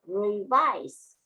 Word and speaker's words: revise: Now, another word, revise. Revise. The main stress is on the second syllable.